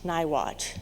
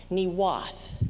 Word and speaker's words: Niwot: However, it's not pronounced Niwot, as we pronounce it. It's pronounced something like Niwath.